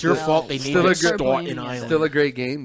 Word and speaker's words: Staunton: Staunton? Yeah. Not Staten. It's spelled just like Staten, but put a U after the A.